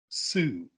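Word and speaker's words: Soo: But for some reason, her name is spelled S-O-O. Sue.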